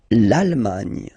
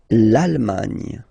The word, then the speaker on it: Allemagne: Okay, A-N, en, D, and final E, not pronounced. Irlande. Le Royaume-Uni. Le Royaume-Uni. Le Royaume-Uni. Okay? L'Allemagne. L'Allemagne.